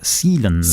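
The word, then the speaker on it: Cielens: But it's from Nanto Sealens, spelt C-I-E-L-E-N-S. Sealens. He's given us the pronunciation next to it. Sealens.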